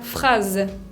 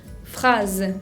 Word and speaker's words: phrase: También la palabra phrase, phrase, que significa frase, con una S que se pronuncia Z.